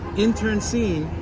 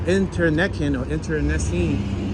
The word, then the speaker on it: internecine: Though internecine, I believe that's how you say it, or internecine, I-N-T-E-R-N-E-C-I-N-E.